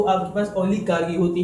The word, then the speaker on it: oligarchy: दोस्तों इसका correct pronunciation कैसा है, कहते हैं कि ओलिगार्की। दोस्तों इसका करेक्ट प्रोनाउंसिएशन ऐसा है कि ओलिगार्की। ठीक है दोस्तों, अगर आपने इसको इस तरह प्रोनाउंस किया कि ओलिगार्की या फिर ओलिगार्की, तो ये गलत होगा।